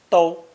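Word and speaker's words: 都: as its population increases its second pronunciation do translates as all every or whole and is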